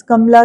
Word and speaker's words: Kamala: कमला के स्पेलिंग्स में ध्यान रखना. The second A you generally miss out on, right? आप कमला बोलते हो तो आप KAMLA लिख देते हो. It is KAMALA, कमला दास.